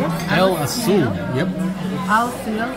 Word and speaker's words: Aseel: Aseel.